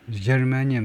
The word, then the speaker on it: germanium: 두 번째 실러블의 액센트가 germanium. 그렇게 발음을 하네요.